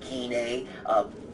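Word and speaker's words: Gine: of goku father Nene and yes actually keaney i think i'm pronouncing GNA all these years it's ended up anyway officially keen a shout out to the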